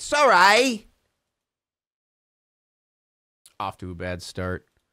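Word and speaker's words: Surrey: these frantic Emer s that's how you say it Ballin it's not Siri it's Sor off to a bad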